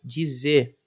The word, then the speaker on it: dizer: O verbo dizer também perde o R e acaba sendo pronunciado dizer.